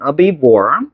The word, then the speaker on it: herbivore: Big mammalian herbivore species. 요런 게 나오네. 자, 그래서 mammal이지, mammal. 그치? 포유류의 mammalian. 그치? 이거 H 발음 거의 안 낸다. herbivore.